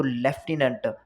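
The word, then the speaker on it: lieutenant: की जो डिफिकल्ट है तो लेफ्टिनेंट अब उसमें फफ का प्रोनाउंस आ रहा है लेकिन उसमें फफ होता नहीं है कर्नल कर्नल में आर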